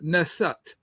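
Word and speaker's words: nswt: The actual when you go into the meduneta what the Greeks called hieroglyphics the actual spelling of the word is ns wt and you would pronounce it as ness.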